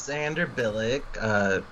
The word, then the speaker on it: Xander Bilyk: Hi, my name is Xander Bilyk. Some of you know me. It's a plural name. It's pretty, right? Like it rhymes with Sandra Bullock.